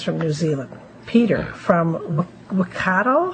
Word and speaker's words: Waikato: Anyways, they pronounce it down there, they probably say Waikata.